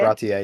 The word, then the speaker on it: Baratie: I like how how do you pronounce it? Baratie? Baratie, yeah.